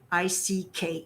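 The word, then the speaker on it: Icke: the that British researcher and former politician David Ike i ke it looks like iy what it's pronounced Ike Ike David Ike has written volumes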